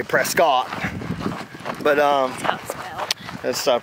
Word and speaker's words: Prescott: Valley we brisket sorry let's get like a biscuit press get like a biscuit let's move other travelers have told us from Georgia we say Prescott but let's stop right